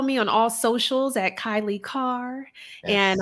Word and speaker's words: Kailei: on all socials at kylie carr and i have a lot of a lot of vowels in my name so i'll spell it k-a-i-l-e-i is my first name